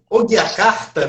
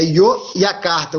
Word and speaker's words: Yogyakarta: É Yogyakarta, né? É Yogyakarta, o G é mudo.